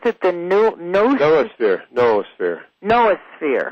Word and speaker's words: noosphere: But the difference between the technosphere, the biosphere, and do you pronounce it the noosphere?